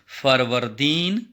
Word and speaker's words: فروردین: غور سے دیکھیے، جیسے میں تلفظ کی ادائیگی کروں گا تو اسی طرح سے آپ کو بھی آنا چاہیے. فروردین.